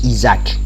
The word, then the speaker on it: IASC: astronomical search collaboration donc et plus familièrement prononce isaac isaac donc c'est l'union internationale